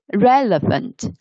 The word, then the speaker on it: relevant: somebody is relevant now relevant the pronunciation there are one two three yes three syllables and the the stress is relevant relevant relevant it means having ideas